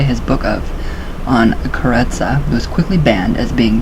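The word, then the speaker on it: Karezza: The mental technique used to accomplish this is known as kareza, pronounced kareza, with the accent on the syllable.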